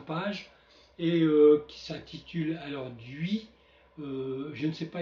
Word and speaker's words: Dhuis: par exemple he ou duis comme dans Hissier alors je pense que si vous êtes plus au nord vous direz plutôt dui si vous êtes plus au sud vous direz vous prononcerez le S final duis bon pour ma part étant au nord je vais dire dui dui donc alors le